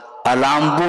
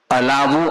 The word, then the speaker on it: अलाबू: और व्यपगत लेप अलाभवत, अलाम्बू नहीं बोलते, कई लोग अलाम्बू का उच्चारण करते हैं, अलाबू अर्थात तुम्बी।